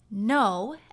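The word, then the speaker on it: Noh: that means the quality of the musical sound now if your ears are used to listening to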